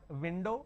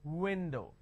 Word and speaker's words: window: O for example window I can't say it window it's not window it's window so bite your v's and kiss your W's that is a fundamental